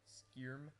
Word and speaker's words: Skyrim: It's pronounced Skyrm.